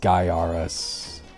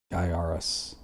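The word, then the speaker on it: Gaiares: Pronounced Gaiaris. Gaiaris.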